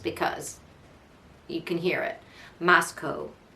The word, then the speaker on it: Moscow: you can hear it Moscow not cow not moo no Co um if you live